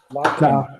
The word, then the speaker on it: lachen: So generally CH is pronounced as sh. Generally CH is pronounced as sh. But whenever before CH you see A, O, U. If before CH these three alphabets come, then we have to pronounce CH as Kh.